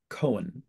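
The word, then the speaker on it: Koen: the Method by a fellow named Billy Von Cohen. I believe he'd pronounce it that way.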